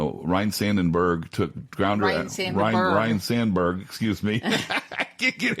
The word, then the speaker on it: Sandberg: I think of Kobe Bryant, Ryan Sandenberg, Sandberg. I pronounced it like Harry Carey.